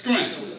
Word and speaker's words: skrent: When words that begin with STR are pronounced, the T is substituted with a K. Therefore, as we said earlier, street is pronounced as stripe is pronounced as stripe. And as we learned, strength is pronounced as skrent.